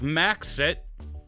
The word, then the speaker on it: Maxit: I have Maxit, a Worgen Destrolock, that's spelled like Maksett.